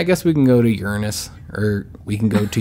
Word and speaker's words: Uranus: There's a cluster of invaders near Uranus. Not how you pronounce that, Real Jynx. Mature. It's pronounced Uranus. It's Uranus.